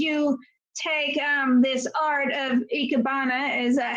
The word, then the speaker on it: Ikebana: you or made you take this art of Ikebana? Is that how you pronounce it? Yes, Ikebana.